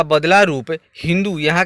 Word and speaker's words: हिंदू: वे लोग स का उच्चारण ह की तरह करते थे तथा वे सिंधु नदी को हिंदू नदी कहते थे। यानी यहाँ के लोग सिंधु कहते थे, वे लोग हिंदू कहते थे।